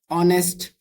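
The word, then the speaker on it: honest: और ऑनेस्ट ऑनेस्ट ऑनेस्ट तो एच ओ जब भी साथ में आएगा तो एच साइलेंट होगा ये होगा है ना जैसे यहां पे आप देख सकते हैं ऑनेस्ट हो गया और क्या हो सकता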